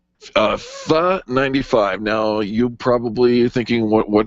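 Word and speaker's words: Phở: Howie writes in, and Howie's from Superior, Colorado, says, FA95. Now, you probably thinking, what did you just say? FA95. You might read it as FO95, but it is pronounced FA.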